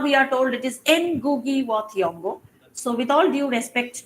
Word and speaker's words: Ngugi wa Thiong'o: When we were students, we were told it was Ngugi wa Thiong'o. Now we are told it is Ngugi wa Thiong'o.